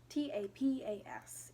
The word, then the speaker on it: Tapas: Part of it is on Webtoon, and then the other part of it is on Tapas? Tapias? Tapas is how you pronounce it.